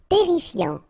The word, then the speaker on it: terrifiant: Terrifiant. Final T not pronounced. Double R here, so it will open the pronunciation of your E, and then it will be E. Terrifiant.